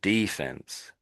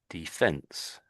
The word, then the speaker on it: defense: saying that, and defense, whereas we're putting the emphasis on the second E, defense. So defense and defense, yes. So there's two ways of saying it. Generally, it's put the emphasis on the first one, I would suggest.